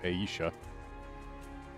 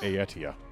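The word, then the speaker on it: Aetia: into lower area which i had previously pronounced as ayesha they pronounced it in voice as ayetya or i know they had a hard t i know that much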